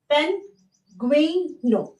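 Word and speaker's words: pingüino: और यही जब जी यू आई, अगेन यहाँ पे आपको दिख रहा होगा 2 डॉट, 2 डॉट, जी यू, यू के ऊपर 2 डॉट, फिर आई, तो ये बनता है गुई। क्या बनता है, गुई। तो इसका प्रोनाउंसिएशन कैसे निकलता है, पेंगुइनो, पेंगुइनो। ओके, तो आप ये देखिए, ये दोनों बिल्कुल अलग वर्ड हैं, जिससे साउंड अलग निकलता है।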